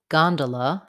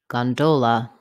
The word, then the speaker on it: gondola: The second pronunciation has stress on the do syllable. It changes to an O vowel, do, gondola, gondola, gondola.